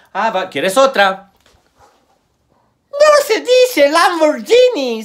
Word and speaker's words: Lamborghini: quieres otra se dice lamborghini se dice lamborghini guin guin y la parte china madre